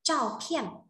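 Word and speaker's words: 照片: À, chúng ta có từ bức ảnh đọc là cho phiền, cho phiền nhá.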